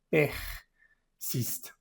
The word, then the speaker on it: persiste: Persiste, esto es una ER. ¿Cómo se pronuncian las ER? Se pronuncian como en verde. Persiste.